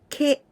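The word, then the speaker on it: け: This is ke. K and E sound. Ke. Very similar, right? But in the case of ke, the last stroke, the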